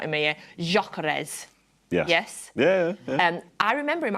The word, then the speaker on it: Gyökeres: No, I've pronounced that wrong now that Ali's not in my ear. Gyökeres.